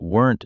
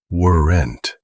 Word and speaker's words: weren't: The trick is to not break it into 2 syllables. Do not say, weren't. Compress it. It is one quick sound.